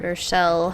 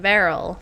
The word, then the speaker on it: Varel: Vershel, however you say his name. Varel, that's how you say his name.